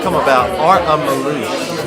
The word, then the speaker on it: Melush: So everyone, but actually when they spell it, they don't put the S, because S in Hungarian is So, but I put that, otherwise it would say Melush for most people.